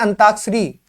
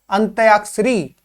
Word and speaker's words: अंत्याक्षरी: तो जो शुद्ध होता है हमारा, हम बोलते हैं अंताक्षरी, मगर शब्द ये उसका उच्चारण ही गलत कर रहे हैं तो वो लिखावट भी गलत होगी। ये क्या होता है? अंत्याक्षरी।